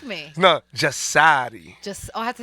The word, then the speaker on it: JASARI: Oh, I said it pronounced wrong? Yeah. Correct me. No, JASARI. I have to say like that. JASARI.